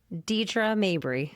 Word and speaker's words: Deidrea Mabry: Now, I'm a little nervous because I'm afraid I'm going to say your name wrong. So how do you say it? Deidrea Mabry.